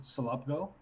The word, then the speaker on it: Selobgo: mean anything it's particularly it's pronounced I would pronounce it Sulabh go okay but most people